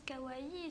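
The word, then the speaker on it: かわいい: kar-wai signifie mignon adorable on le prononce kawaii ce style vestimentaire particulier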